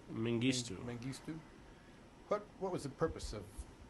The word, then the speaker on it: Mengistu: to see President, how do you pronounce his name? Mengistu. Mengistu.